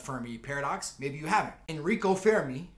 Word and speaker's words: Enrico Fermi: Enrico Fermi. That's how they say it back in Italy back in the day.